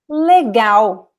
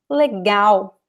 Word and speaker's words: legal: Então, por exemplo, legal. You see, the stress is at the end, especially the vowel legal.